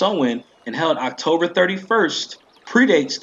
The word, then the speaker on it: Samhain: the Celtic celebration of Samhain pronounced Owen and held October 31st